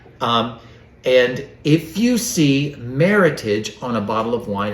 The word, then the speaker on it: meritage: meritage yes so it's it's meritage not meritage so think meritage rhymes with him hemorrhage oh my god man matches with heritage and like like well